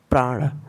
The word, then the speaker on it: प्राण: ठीक है प्रिय साथियों, इसके उच्चारण में ध्यान देने वाली बात यह है कि जैसे ही हम प का उच्चारण करें, तुरंत र के उच्चारण के लिए तैयार रहना चाहिए। प्राण, ये नहीं कि पहले प का उच्चारण कर लें फिर आराम से र का उच्चारण करेंगे, तब प्राण को प्राण पढ़ा जाएगा, तब घ्राण को घराण हो जाएगा।